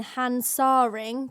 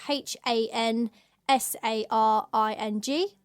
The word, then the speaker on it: Hansaring: going to Cologne we would recommend staying in hansaring that's the name of the tube and it's spelled h a n s a r i n g hansaring yeah it just see we always seem